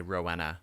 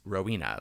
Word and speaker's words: Rowena: But the name is Rowena. Like, if you have that name, that's how it's pronounced.